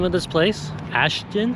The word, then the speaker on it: Ashton: Ashton? Ashton, yeah.